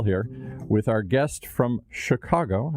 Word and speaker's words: Chicago: It's quite a dramatic tale here with our guest from Chicago. I want to make sure I don't say it like too many Midwesterners mispronounce it.